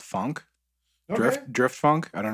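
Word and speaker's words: phonk: I find, like, over the last couple of weeks, I've really been bumping a lot of a genre called funk.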